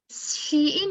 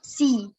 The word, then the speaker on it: she: Nah, dari kebanyakan di sini she ini disebutnya mereka pronounce like see. If you pronounce like see in bahasa means melihat. Not she, dia perempuan.